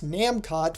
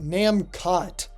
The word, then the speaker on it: Namcot: while Namco of Japan would continue to use namcot for the next 5 years the name Namco was used in North America by the way when it comes to the pronunciation it is pronounced namot it isn't pronounced the same as Namco with